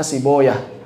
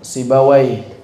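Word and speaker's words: سيبويه: Menurut ahlul hadis bacanya Siboyah. Menurut sebagian ulama bacanya Sibawai.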